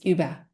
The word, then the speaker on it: Uber: And I was like, you're saying it wrong. It's Uber. But they were talking about the ride sharing app. I was like, Ah, everybody's saying Uber.